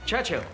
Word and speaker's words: Churchill: enjoying sir James's visited Churchill Churchill that's how you say it all together like that I'd heard church and hill but couldn't find either all I could see